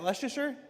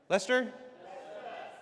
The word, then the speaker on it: Leicester: Is that Leasher? Lester. Lester.